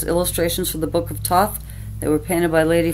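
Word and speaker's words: Thoth: two Alister CR Crowley I believe they're pronounced Toth tarot decks I have this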